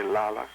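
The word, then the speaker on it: לילה: Night comes from the Hebrew word Laila. Some say Lala.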